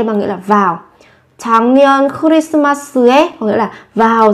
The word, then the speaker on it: 작년: 작년, 작년, 작년. Năm ngoái. Các bạn chú ý với cái phát âm là thành 작년. Viết là chắc nhưng phát âm là chẳng.